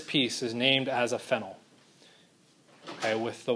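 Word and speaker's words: phenyl: end with Y so we end up calling it fennel not to be confused used with phenol okay phenol is spelled with the y l it's referring to an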